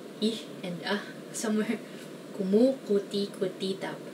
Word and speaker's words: kumukuti-kutitap: Kumukuti-kutitap. I guess the only way to pronounce this is to remember all the syllables. Kumukuti-kutitap.